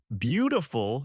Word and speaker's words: beautiful: And beautiful stresses the first syllable.